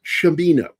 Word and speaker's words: Cimino: It's Chamino for those who don't know how to say his name. It's not a soft seed.